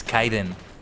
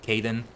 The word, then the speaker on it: Kaiden: Also, reminder, my name is Kaiden. If you ever if you ever forget that it's Kaiden instead of Kaden, just remember it rhymes with Python. Like a pie.